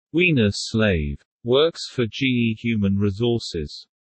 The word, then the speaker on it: Weinerslav: Jeffrey Weinerslav, Todd Buonopane, pronounced Wiener Slave, works for GE Human Resources.